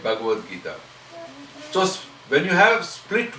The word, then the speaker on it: Bhagavad Gita: Bhagavat Gita is two different words. Bhagavat is coming from Bhagavan. Gita is a song. When you join together, you get Bhagavad Gita.